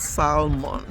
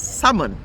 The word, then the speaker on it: salmon: some reason, you know, salmon is called salmon, not salmon, even though it's spelled as salmon, as you can see written there, but they actually pronounce it as salmon.